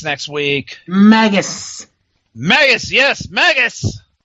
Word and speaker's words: Magnus: week Magus Magus yes Magus as J Dixie used to call him maggus because apparently she can't pronounce NS and somebody else called